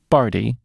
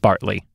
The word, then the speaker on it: Barty: podcast for some time, that Billy Barty, I believe, is a name that I mispronounced the last time we did a film that he was in, and there was a commenter who corrected me. I think it was on YouTube, because I think I said Bartley.